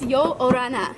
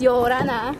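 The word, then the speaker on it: Ia ora na: I think it's Yo Orana. Yo Orana. But they say it really flowy, so it's Yo Orana.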